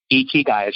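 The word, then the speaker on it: ikigai: on this but it's a Japanese concept called ichi guy and it's i ki GA i it's i ki GA i and it's a Japanese term ichi guys how you say it but it's a Venn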